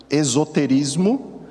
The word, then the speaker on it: esoterismo: Esse mesmo site mostrava uma diferenciação entre os termos de esoterismo e, para ficar uma pronúncia diferente, é exoterismo, um com X e outra com o S, né?